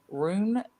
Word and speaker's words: Rune: I can spell it better than I can say it, but because Rune, I think is how it's pronounced, RUNE.